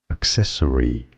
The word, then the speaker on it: accessory: in English is as accessory stress on the second syllable both British and American